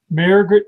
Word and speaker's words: Mairghread: Mairghread. Who? Mairghread Scott. Mairghread Scott.